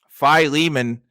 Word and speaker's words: Philemon: list back to matt philemon philemon i love i think i learned from you that that's how that's actually supposed to be pronounced which is really funny